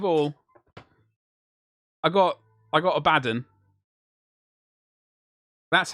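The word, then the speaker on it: Abaddon: Quickly, first of all, I got I got Abaden.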